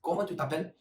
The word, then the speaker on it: comment tu t'appelles: So how you ask the name is comment tu t'appelles, and the answer is je m'appelle.